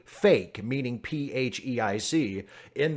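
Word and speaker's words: PHEIC: referred to in speech Phe IC is usually pronounced as a single word and that word sounds like fake seriously I'll show you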